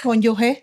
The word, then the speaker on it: cónyuge: Mara, se dice cónyuge, ¿verdad? Cónyuge. Ok. Cónyuge. Porque se escribe sin la U. No importa, pero es cónyuge.